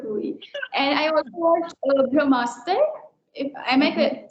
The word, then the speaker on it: Brahmastra: And I also watched Brahmastra. If am I Okay. pronouncing it correctly? Yeah, Brahmastra.